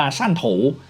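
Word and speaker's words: 汕头: ยัง สับสน นะ ครับ ระหว่าง ความ สัมพันธ์ ของ เมือง ซัวถะ เขา หรือ ว่า ซัวเท้า หรือ ว่า ที่ จีน กลาง ออก เสียง ว่า สั้น โถ นะ กับ เมือง แต้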